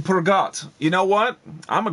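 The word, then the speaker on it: Peugeot: You don't pronounce the T in Pergot.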